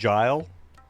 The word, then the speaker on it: gil: We owe 3 of our most trusted friends 5 million gil. Actually, it's pronounced Gile.